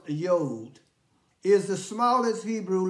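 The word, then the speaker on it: יוד: And Yod is pronounced Yod, is the smallest Hebrew letter.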